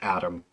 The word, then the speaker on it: ATM: Uh his name is Adam. It's it's just ATM, but you pronounce it like a name.